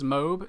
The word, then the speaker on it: MOAB: video recently talking about the pronunciation of MOAB versus MOAB. Apparently it is MOAB, and I have gone like all these months without knowing it.